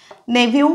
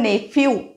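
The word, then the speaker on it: nephew: मराठीत आज लिले सिबलिंग उच्चार नेव पुतण्या हा नेवू वेगड़ा नेवू इथे स्पेलिंग है एन ई पी एच ई डब् moon आपण नेफ्यू अस नाही मच उच्चार है नेवू त्याच्या पुचा है नीस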